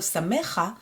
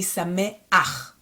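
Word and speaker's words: שמח: So it's going to be, instead of samecha, it's going to be sameach, sameach.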